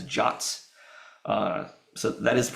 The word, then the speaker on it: JWT: These JSON Web Tokens defined in RFC 7519, and by the way, the RFC specifically says that JWTs are to be pronounced as JOTs.